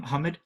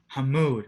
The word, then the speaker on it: Hamoud: Hamoud. Hamoud. Okay. Yeah. Like a mood, like just Yeah. Like the like- word mood with ham. So it rhymes with the mood.